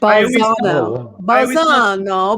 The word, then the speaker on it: Balzano: It's Balls. Balzano. There's like no P in it. I don't even know where you were getting a P. I don't know. I can't talk. Balzano.